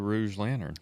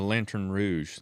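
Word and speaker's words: lanterne rouge: Who was the Rouge Lantern? The Lantern Rouge. That's how you say it.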